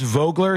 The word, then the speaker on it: Vogler: It's pronounced Vogler, says Deb.